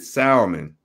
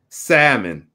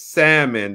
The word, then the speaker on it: salmon: two small cans unsalted Salomon salmon the L is is quiet that's what once my best friend told is a Salomon and he always correct me and says salmon the L is silent two small cans are